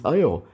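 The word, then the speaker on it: air: in his video that the pronunciation of iron or water in the para dialect is Ayo and not ayak like in Penang it's unlikely anyone watching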